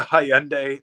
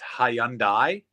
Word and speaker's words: Hyundai: It's like the Hyundai like Sunday in Canada. I mean, I get that. I don't know if... Everywhere else in the world pronounce it Hyundai, and only Canada pronounces it like Hyundai, like Hyundai.